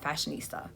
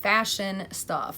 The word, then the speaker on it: Fashionsta: If I try to say something very quickly, especially like a word like Fashionsta, if I don't really pronounce it, it comes out Fashionista, okay? So that's my fault, but it's Fashionsta.